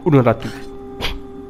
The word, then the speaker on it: Unuratu: Queen Unuratu. Or how did she say it? Unuratu. That's how she pronounced it.